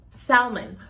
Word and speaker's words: salmon: all it's spelled s-a-l-m-o-n i understand that we can have like silent letters first of all silent